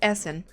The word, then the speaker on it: essen: eat have that was Essen we have the Apple would have been um Veer Hassan Den Apple SN is always eat it is pronounced like you're hissing well I've tried to